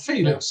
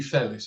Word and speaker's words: Felis: Not Felix the cat actually Felis, isn't it? Because I have I'd have my Latin master after me for mispronouncing it.